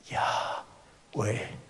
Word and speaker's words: Yahweh: Porque la intención es esta: Yahweh, Yahweh, Yahweh. ¿Se entiende? No se puede pronunciar, es un sonido, Yahweh. Es como nosotros respiramos, todo lo que respira alabe al Señor. Todo lo que respira dice Yahweh, Yahweh. Escúchese, suspire. Ese sonido es Yahweh.